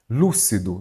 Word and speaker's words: lúcido: Lúcido, então você vai observar que a sílaba tônica é qual? O lu, não é isso?